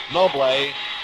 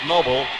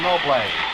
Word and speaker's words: Noble: Brooklyn Dodgers with Rayfield noé nolé spelled as though it were pronounced Noble doing the catching for the Giants a new battery Jansen and no play Don Nukem getting a